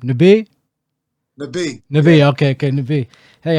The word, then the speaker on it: Nabih: Nabih.